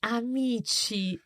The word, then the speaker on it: amici: the word amiko friend the plural is actually Amici although the emphasis is on me but uh that's how